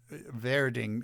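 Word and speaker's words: Werding: her name was julian verding okay in german w's are pronounced v so her last name is pronounced verding except that it's spelled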